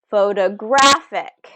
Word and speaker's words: photographic: Photographic, photographic. Look at our shape pattern there. 2 small O's, a big O, and a small O again. Photographic. Which syllable is getting stressed? Photographic. The third syllable there.